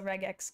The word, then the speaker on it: regex: ask me but that's just my smelly opinion regex is that how you say it show it for regular expression ah okay yeah so regex got it let's see do I have anything